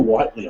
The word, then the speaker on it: Whitley: So we've got, is it Whitley or Whiteley? I never know. Whitley. It's spelled right. The one, thank you. Yep. Just not pronounced properly.